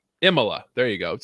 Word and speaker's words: Imola: I'm not even going to try and pronounce it. Imola. Imola.